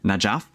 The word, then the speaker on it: Najaf: Is it pronounced Al Najaf? Yeah, Najaf.